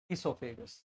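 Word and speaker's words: oesophagus: ईसोफेगस, ओ ईसोफेगस, ओ silent है, यहाँ पर आया।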